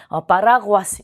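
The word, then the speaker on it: paraguas: 파라구아스, 우산이란 단어인데요. 자, 에세로 끝났기 때문에 끝에서 두 번째 모음의 강세가 오는데요. 우, 아 이렇게 두 개의 모음이에요. 자, 우가 양모음, 아가 강모음이기 때문에 두 개는 이중 모음으로 처리를 해서 하나의 모음으로 보는 거죠. 자, 그럼 두 개를 그대로 건너뛰어서 여기에 강세가 오는 게 맞겠죠. 끝에서 두 번째 모음의 강세가 오니까요. 파라구아스 이렇게 발음하는 게 맞습니다.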